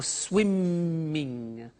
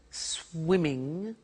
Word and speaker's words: swimming: that in English pronunciation when there is a double consonant we don't hear it in the pronunciation so for example we don't say stoping or swiming okay not like other